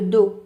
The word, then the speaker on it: dos: le PO sur le dos d o s prononce pas le S les Sabau s A